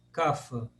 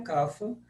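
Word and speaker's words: कफ: isso aqui no grupo por se fala cafa eh se fala sim na Índia inteira a pronúncia mais comum é cafa por isso a maioria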